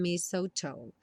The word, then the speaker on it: mistletoe: Não se confunda com esse TLE aí. Mistletoe.